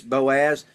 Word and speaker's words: Boaz: When you pronounce it in the Hebrew, it's Boaz.